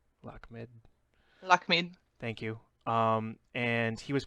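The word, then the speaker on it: Lakhmid: have to help me on that one, the pronunciation, Lakamid? Lakamid? Lakmid.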